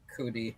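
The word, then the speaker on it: Ncuti: I think it's Kuti. I Kuti, think the N is silent. Okay, Kuti Gatwa.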